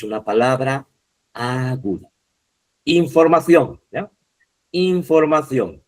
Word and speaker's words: información: Información. Esta, aunque también en España la C se pronuncia como Z, pero se escribe con C, ¿ya?